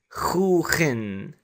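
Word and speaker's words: خوخ: word for peach and we pronounce this as who in I'm writing the KH to represent the ha however KH is just an approximation so who in means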